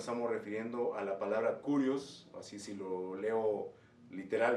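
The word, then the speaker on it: κύριος: Para ello nos estamos refiriendo a la palabra kurios, así si lo leo literal, ¿verdad? Kurios, porque el griego tiene una pronunciación especial como curio, curie, curios, no de curioso en inglés, ¿verdad?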